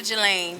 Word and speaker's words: Jalane: how do you say your last name Bonita galain Jala is my middle name but my stage